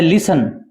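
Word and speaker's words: listen: क्या होता है सुनना इसमें यह टी हैय साइलेंट है क्या टी का उच्चारण नहीं होता बहुत ही मोस्ट इंपोर्टेंट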